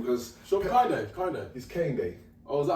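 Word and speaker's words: Kehinde: he's Kane Day.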